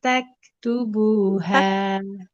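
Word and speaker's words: تكتبوها: Tak tubuha kafnya itu bukan bunyi kafnya yang ada e-nya tak tapi tak ada aliran nafas di situ.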